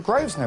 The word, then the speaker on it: Grosvenor: I see we've got the name the Groves know it sounds posh you don't pronounce the air the summer season is